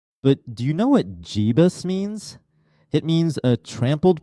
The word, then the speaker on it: Jebus: They're called the Jebusites, sometimes pronounced Yebus. The Jebusites were a people who lived in the region of Jerusalem and Hebron together with the Anakim. Jebus.